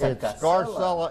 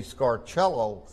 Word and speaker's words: Scarcella: It's Scarcella in America, but if you go to Rome, they'll fuss at you because the C-E is pronounced ch, so it would be Scarcello, and a clerk at the hotel in Rome really jumped on me and admonished me because I pronounced my name Scarcella and not Scarcello.